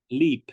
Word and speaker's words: Leap Castle: And one of the couple of them that I was researching, one of them, Castle, is it pronounced Leap? Leap, yeah. Leap, as it's spelt.